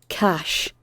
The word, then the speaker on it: cache: Cash. So, maybe you didn't. But, I'll show you it as well in the Oxford English Dictionary. So it is, in Britain, pronounced cash.